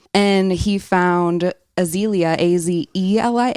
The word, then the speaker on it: Azelia: And he found Azelia, Azelia. It's spelled different from the flower, but it sounds like Spanish also.